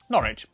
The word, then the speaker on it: Norwich: stir Lester wer gluster w at the start of the final syllable is silent Norwich Beric suuk e r